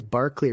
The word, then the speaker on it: Berkeley: are us yes um I'm glad you questioned the pronunciation of Berkeley because I think it is Barclay originally because it's named after the philosopher who I'm trying to